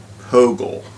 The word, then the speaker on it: POGIL: looking right now at pogel that's how i say it uh there may be other ways of of pronouncing p-o-g-i-l which is process-oriented guided